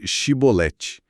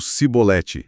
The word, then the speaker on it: chibolete: Eles não conseguiam pronunciar o som de Xi no começo. Diziam algo como cibolete.